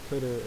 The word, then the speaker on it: cdr: And CDR, or coder, as some people pronounce it, is the tail of a list.